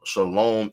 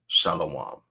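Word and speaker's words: שלום: When we look at the phrase Shalom versus Shalawam, Shalom is how the word that means peace in Hebrew is vocalized in the modern vocalization, right? And it differs from how we pronounce it as Shalawam, right?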